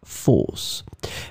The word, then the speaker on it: fausse: as we saw it would be pronounced the same way falce and then here it's